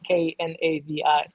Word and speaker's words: Knavi: As long as you remember that there is a K and the K is silent. Knavi.